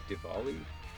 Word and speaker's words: Diwali: But I guess maybe it's pronounced with the V, Diwali.